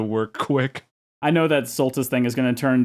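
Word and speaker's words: Soltis: Wonder how many people are going to get angry at you that you keep calling it Solstice and that's Sulttus.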